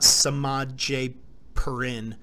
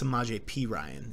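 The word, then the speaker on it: Semaj Perine: semaj P Ryan yeah not not Samad J per in its semaj P Ryan is how it's pronounced and we move along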